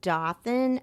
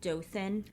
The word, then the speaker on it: Dothan: him Katie's mother Mona hartling eventually moved to Dothan Alabama to be closer to her sister and